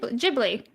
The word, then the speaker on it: Ghibli: Grateful Gamer says, "Jub Jubilee's boobs is pronounced similar to Gib. Jibli."